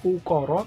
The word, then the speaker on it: ukara: Jawa disebut dengan ungkoro jurusannya ukara Jadi kalau membacanya ukoro tapi nulisnya ukara-ukara dalam bahasa Jawa ada tiga